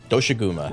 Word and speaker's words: Doshaguma: Is that how you pronounce his name? Doshaguma.